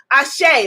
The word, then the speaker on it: Asé: it means yes i'm on the right path ashay let's affirm it type into the comments ashay a s e is the easiest way to